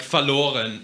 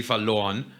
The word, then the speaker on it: verloren: Like verloren, ich habe sie verloren. Verloren. So you can just hear that they're still putting a slight R on their R. Verloren. Like they're still pronouncing it, whereas we just...